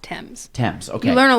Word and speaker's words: Thames: It does, but it's pronounced Thames.